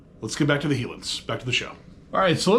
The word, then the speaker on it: Helin's: It looks like it says HELIN'S, and I bet that's been mispronounced about 1,000,000 times. It's actually HELIN'S.